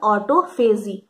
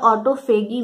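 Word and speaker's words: autophagy: This process is also called ऑटोफेजी या ऑटोफेगी भी बहुत लोग इसको प्रोनाउंस करते हैं, आपको जो सही लगे आप उसको बुलाइए, ऑटोफेजी या ऑटोफेगी।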